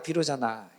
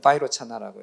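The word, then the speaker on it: वैरोचन: 반야 비로자나 너무 나가셨는데 그 이제 비로잖아 얘기 아니라 바이로 차나 그건 그건 비로자 비로자나 한글 발음이고 그 이제 바이로나를 중국 사람들이 비로자나로 한문으로 한 거 우리가 발음하니까 비로자나 원래는 바이로차나라고 이거 맞는 것이죠 아 또 비로자나불까지 또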